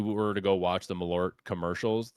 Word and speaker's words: Malort: Ellie asks, why does he drink Merlot to feel quirky and different? She means Malort.